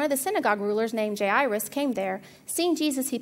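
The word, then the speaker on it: Jairus: the story of now now Kenneth pronounces it J irus and I figured he probably knows I always called it gyrus and apparently that wasn't right so the story of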